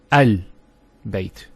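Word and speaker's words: البيت: Al of definiteness, that the Hamza al-Wasl is always pronounced with a Fatha. Not a Kasra and not a Dhamma. So it's always A, Al-Bayt, Al-Qamar, and so on. It's never Ul, it's never Il.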